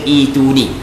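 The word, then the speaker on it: ائتوني: Cara baca ituni, dia dalam kaedah bahasa Arab, kalau hamzah lepas daripada hamzah mati, kita kena baca ituni.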